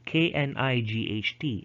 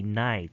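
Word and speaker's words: knight: letters silent for example you would write k-n-i-g-h-t instead of saying k-night you just say night or say um home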